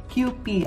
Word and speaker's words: Kewpie: What they said, kewpie, but it's kewpie actually.